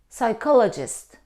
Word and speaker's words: psychologist: chemistry Saito stomach no though we see the combination C and H we don't pronounce here in these words we pronounce them psycho psychologist psychology stomach chemistry we don't pronounce we pronounce k psycho is a person